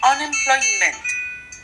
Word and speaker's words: unemployment: Unemployment. Desempleo. When you pronounce this word, make sure you pronounce the M.